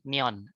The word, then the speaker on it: Kleon: Austin Neon gitu ya, dibacanya Austin Neon. Agak kayak neon gitu ngomongnya ya, kata penulisnya sendiri.